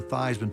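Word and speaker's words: Theismann: we think by just simply changing the pronunciation of your last name from these men to Theisman to rhyme with Heisman we can get you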